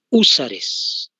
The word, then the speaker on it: húsares: Regimiento Junín, y los húsares, con H se escribe por si acaso, H es acento en la U, húsares, y más voluntarios, ¿no ve?